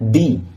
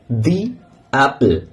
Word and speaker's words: the: তখন যে উচ্চারণটি হয় সেটি হচ্ছে টি এইচ ই দি টি এইচই এর উচ্চারণ হয় কি না দি ফর এক্সামপল দিল দি আউল দি অরেঞ্জ অনুরূপভাবে যদি কনসোনেন্ট সাউন্ডের